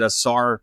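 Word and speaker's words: Ausar: Was it Asar?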